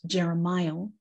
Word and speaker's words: Jeremiel: And as you heard, it's pronounced Jeremiel.